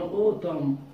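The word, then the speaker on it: autumn: سمر رين، وينتر سبرينج، الصيف مطر، الشتاء ربيع، المختلف المختلفة رين مطر، ونجيب هنا اوتم الخريف، اللي ان لا تنطق اخر حرف.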